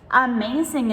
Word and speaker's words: amazing: Amazing is a good example. This one has two A's, but they're both pronounced differently. Amazing. So we have the short A and the long A in the middle.